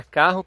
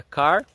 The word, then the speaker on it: car: isso é bem marcante, que é a pronúncia do R. Por exemplo, para carro, que seria car, como nós vemos nos filmes americanos, e o inglês fala car. Eles cortam esse R no final.